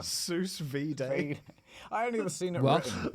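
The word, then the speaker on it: sous vide: How does it How is it pronounced? Suvid. Suvid. Whatever. Sus V.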